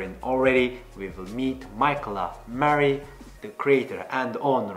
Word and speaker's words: Mikyla: Well, first of all, it's pronounced Mikyla Marie. It's Mikyla. a little bit different. Yeah, it's slightly different, but it's kind of